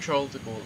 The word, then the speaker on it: Charles de Gaulle: Gaulle Airport Charles to go to say thank Charles de Gaulle is right it's the right way to say